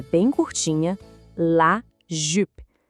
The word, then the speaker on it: jupe: La jupe. O som do U aqui também pede aquele biquinho. É um som bem fechadinho. Ouve de novo. Jupe. Não é jupe, é jupe.